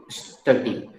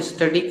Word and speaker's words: steady: Slow and स्टडी, यहाँ स्टडी का मतलब होता है निरंतरता।